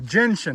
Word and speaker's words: gentian: The gentian. I kept wanting to put an A in the pronunciation of that. Can't stoop this low.